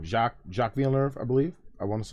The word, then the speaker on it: Villeneuve: So, randomly, I just found out that this is another Denis Villeneuve movie, who I finally learned how to pronounce his name once I realized that he was French-Canadian.